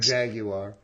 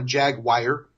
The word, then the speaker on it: Jaguar: Jaguar. 3 syllables for those of you that call it a Jaguar.